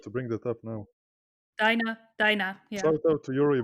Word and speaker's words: Dina: probably heard about this theory with Eren commanding Dina to kill Carla, or Dinah, how is she Yeah, pronounced I in was English? about to bring that up now. Dinah, yeah.